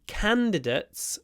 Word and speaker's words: candidate: one try again three candidates were interviewed for the position so candidat is a candidate stress on the first syllable stretch the N candidate he's a candidate